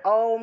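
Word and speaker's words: ওঁ: এইযে এই যে অক্ষরটা আছে এটাকে আসলে অওম রূপে উচ্চারণ করতে হয়।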